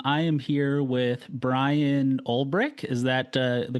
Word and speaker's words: Ulbrich: Um, I am here with Brian Olrich. Is that uh the correct correct pronunciation?